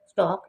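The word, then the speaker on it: stalk: स्टॉक, STAL के स्टॉक, एल जो है ये साइलेंट है लेकिन ये आई लिखने में आएगा।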